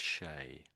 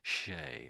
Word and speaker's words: Shea: I think that name's pronounced Shay. So sh, that's an E, we say A. So Shay.